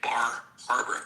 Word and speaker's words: Bar Harbor: You know, if you weren't from that portion of the country, you would say Bar Harbor and you would pronounce the R.